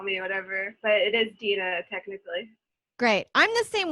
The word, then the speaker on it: Dina: you can call me whatever but it is dina technically great i'm the same way people um